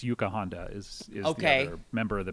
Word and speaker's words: Yuka Honda: it by the way i think i was saying her name wrong it's yuka honda is okay member of